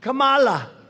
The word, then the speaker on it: Kamala: tried to interrupt him no my name was kamala like comma i remember that like a comma right h1n1 that's right